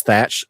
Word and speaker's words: Thatch: see one that says thatch th h a t c, just know that that first h is silent.